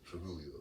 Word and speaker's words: Trujillo: Spell it. You knocked Julio out? The Trujillo? Yeah, T-R-U-J-I. Yeah. Trujillo.